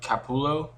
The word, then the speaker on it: Capullo: the writer that it's scott snyder and greg cappulo that's how you say his name and they're